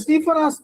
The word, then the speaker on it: ஸ்டீஃபனாஸ்: ஆனால் ஆங்கிலத்தில் அவருடைய பெயர் ஸ்டீஃபனாஸ் என்று குறிப்பிடப்பட்டிருக்கும். ஸ்டீஃபனாஸ், ஸ்டீஃபன் அல்ல, ஸ்டீஃபனாஸ்.